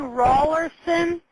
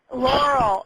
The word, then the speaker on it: Laurel: Are you saying Rawlerson? No, I'm saying Laurel. L-A-U. Oh, okay. Laurel. Okay, I've got it now.